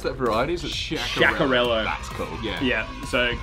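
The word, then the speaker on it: Sciaccarello: So how do you pronounce that variety? Sciacarello.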